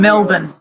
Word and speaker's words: Melbourne: And Melbourne.